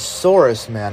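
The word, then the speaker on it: Saurusman: this had come out the pronunciation of that is saurus man if you couldn't tell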